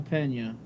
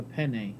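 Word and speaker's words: Peña: saying it ain't worth a damn yeah juliana pena and jessica penney i think we're saying it wrong yeah i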